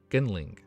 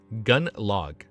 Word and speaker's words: Gunlog: Gunling. Gunlog. Like a log, like a wooden log.